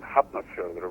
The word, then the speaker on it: Hafnarfjörður: I mean, when I started with the local amateur theater group in Hafnarfjörður, where I was born and raised. Oh, so that's how you pronounce it.